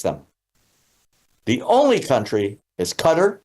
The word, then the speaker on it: Qatar: The only country that takes them, the only country is Qatar or Qatar, depending on how you say it, and they only take the billionaires.